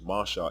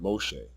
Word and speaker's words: Masha: So, for example, the name Masha is Masha and not Moshe.